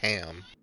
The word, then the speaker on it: Arkham: That's how it's pronounced. Arkham. Arkham.